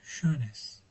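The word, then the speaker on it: schönes: SC kafayı karıştırmasın. Ş diyor söylüyor. Şönes bitti.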